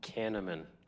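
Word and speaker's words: Kahneman: Canaman.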